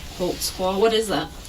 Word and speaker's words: Holtzclaw: there because I don't even know how to spell it how do you say your name holtzclaw holtzclaw what is that it's a German can you